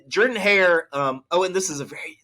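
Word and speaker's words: Jordan-Hare: It's not Jordan Hare. It's Jordan Hare. I know there's an O there. Just pretend it's an E, okay?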